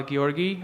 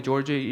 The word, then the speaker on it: Georgi: better first of all I'm Georgi uh you can call me Georgie if uh it's bit difficult to pronounce Georgian name sometimes I don't mind